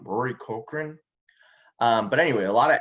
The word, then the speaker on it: Cochrane: woody harrelson this is rory cork i always mispronounce his name rory cochrane but anyway a lot